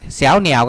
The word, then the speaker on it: 小鸟: กัน นะ ครับ อ่า ตัว 2 ตัว นี้ อ่าน ว่า เสว เหนี่ยว เสียว เสียง สอ เสือ เหนี่ยว เสียง หน หนู นะ ครับ เสียว เหนี่ยว ก็ คือ ลูก นก